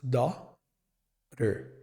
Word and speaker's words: daughter: Então nós falaremos dó r dó r. Só isso. E a pergunta talvez você tenha de onde que sai esse som de rotter. Esse som de R vem do T.